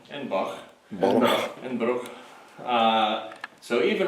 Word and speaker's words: Edinburgh: We are at the Edinburgh Manor, as it is pronounced. Edinburgh.